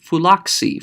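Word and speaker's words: φύλαξι: form on the bottom, phulak plus c, pronounce those together, and you're going to hear something change. Phulaksi, phulaksi, phulaksi. Well, you already have a consonant in Greek that makes the sound ks. That's xi.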